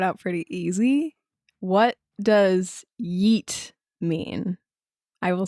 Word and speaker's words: yeet: I will spell it, and then I can also pronounce it in the way that it's usually pronounced, which is very deep. It's like yeet, like that. That's how it's usually said.